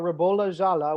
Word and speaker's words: Ribolla Gialla: comments if you guys have any questions about rebula jala which is how it's pronounced by the way um say that 10